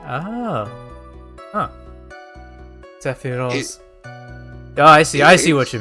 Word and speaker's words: Sephiroth: They actually sing Sephiroth because it's a Japanese name. From usual Japanese pronouncing of TH as Z. Ah. Huh. Sephiroth.